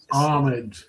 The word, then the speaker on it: homage: Yeah, I Homage, you don't pronounce the H in it. I Have you ever been on this channel before? I say homage.